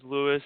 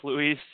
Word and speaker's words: Luis: I get scolded by the Hispanic culture because I refer to myself as Louis and my name is pronounced Luis.